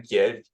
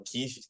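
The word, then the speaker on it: Kyiv: eu tava lá em Kiev ou kiv né como se fala lá na Ucrânia e o o Dr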